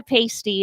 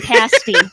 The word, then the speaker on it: pasty: you saying it correctly it's not a pasty it's a pasty just want to make